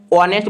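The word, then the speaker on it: honest: ऑनेस्ट बॉय में ऑनेस्ट बोल रहा है क्या? ओ से उच्चारण स्टार्ट हो रहा है।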